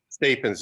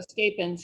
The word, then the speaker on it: Stappins: Stappins is how you pronounce it, ma'am. Oh, Stappins, yes.